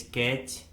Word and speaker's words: catch: Rule number 1 में हम सीखेंगे कि यदि किसी वर्ड में टी के बाद सी एच आता है तो उस वर्ड में टी कम्प्लीटली साइलेंट होता है, यानी टी का किसी प्रकार से कोई भी उच्चारण नहीं किया जाता है।